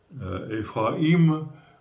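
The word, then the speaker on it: Ephraïm: important, mais en français, quand on a un i avec un tréma dessus, on prononce, hein, par exemple, Ephraim, on dit i, hein, on prononce bien le i pour accentuer.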